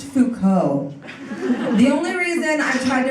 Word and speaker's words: Foucault: Judith Butler I once tried the reference for kalt at a party to make myself sound smart and my friend politely corrected me and said it's pronounced Foucault the only reason I'm